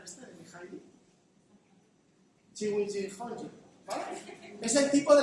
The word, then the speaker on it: Csikszentmihalyi: ¿Alguien no sabe pronunciar este de Mihaly? Csikszentmihalyi, ¿vale?